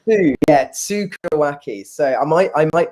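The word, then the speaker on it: tsukuriwake: with and so santori pioneered a concept called sukado wacky which is very difficult word i'm not going to expect anybody to write again sue karawaki who yeah tsukuaki so i might i might be pronouncing that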